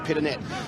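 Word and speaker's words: Pittonet: had for many years mark peternay was happy to have it as peter nay and then came out and said it's actually pit a net but anyway the ball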